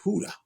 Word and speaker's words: Hoodah: That J is pronounced a little different, but I know when Spanish people they say Hoodah.